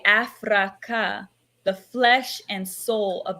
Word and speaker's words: Afraka: an ancestral word however I like to pronounce the word as afraa because the atmology and the vibration of the word actually does have ancient Origins Rah being the sun AF being the flesh Rah is the Sun